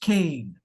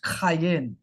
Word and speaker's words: Cain: We see c a i n as you see here, but it's actually transliterated as q a y i n because it's pronounced cayen.